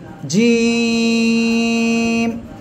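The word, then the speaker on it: جيم: আর এই অক্ষরটা কি জিম এই জিম অক্ষরটা উচ্চারণ হবে কোন জায়গা থেকে জিহ্বার মাঝখান দেখেন আমার দিকে তাকান জিহ্বার মাঝখান তারপর বরাবর উপরে তালুর সঙ্গে লাগাবেন লাগিয়ে উচ্চারণ করবেন জিম ঠিক আছে তিন আলিফ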